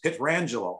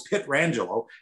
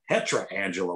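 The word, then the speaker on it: Pietrangelo: say his name and when i hear alex pitt rangelo i know it's pitt rangelo it's not petra angelo when people say it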